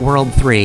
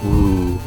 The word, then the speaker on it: WWW: If you didn't know to pronounce it World 3, you'd probably just pronounce it Woo.